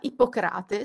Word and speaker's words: Ippocrate: del medico greco sia ipo crate secondo la pronuncia greca e non come ci aspetteremmo appunto ippocrate alla latina e all'interno degli scritti